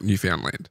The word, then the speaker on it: Newfoundland: It's I think they call it Newfoundland, but not like Newfoundland. It's Newfoundland. It's spelt Newfoundland.